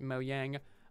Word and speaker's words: Mojang: more evil deadly things mojang is pronounced moyang i think they just changed their official pronunciation to be mojang actually when they redid